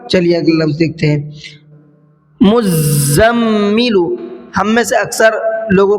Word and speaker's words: مزمل: مزمل. یاد رکھیے گا مزمل. تو چلیے ہجے کر لیتے ہیں.